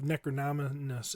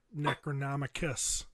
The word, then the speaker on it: Necronomicus: really i really like his pronunciation of necronominess as nep necronomicus there's a there's a c and there's a c in there as he i was